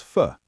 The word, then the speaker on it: for: For becomes fuh.